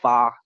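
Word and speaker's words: 发: of similar word to this word we call fa.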